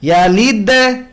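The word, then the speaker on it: يلد: তো এরকমই ইয়ালিদ এত বড় না, অনেকেই লাম ইয়ালিদ ওয়া লাম ইউলাদ এত বড় করে কলকলা করেন, এটা করা যাবে না। কলকলার আওয়াজ মূল আওয়াজের তুলনায় দুর্বল। লাম ইয়ালিদ ওয়া লাম ইউলাদ, ইয়ালিদ লিদ ওয়া লাম ইউলাদ, লাদ ছোট।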